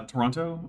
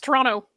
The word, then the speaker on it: Toronto: You pronounce the second T in Toronto. Uh, Toronto. I guess I do. Do the Do the Torononians Toronto? It's Toronto. Toronto.